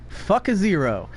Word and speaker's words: Fukaziroh: The fact that her name is pronounced to me, Fukaziroh. Fuck a zero. That's how I pronounce her name.